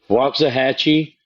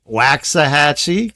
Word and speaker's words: Waxahachie: Waxahachie or Pflugerville? Yep, that's right. Cuz some people might say Waxahachie cuz of the X.